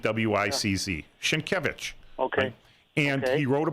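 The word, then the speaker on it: Sienkiewicz: sounds s i n k i e wz shinkevich okay and he wrote a book called PBA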